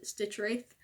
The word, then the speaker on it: Stitchwraith: at the pets video he pronounced the stitch Wraith I was like wait it's like it but I like stitch wrath butter in my opinion it sounds more real but anyway the stitch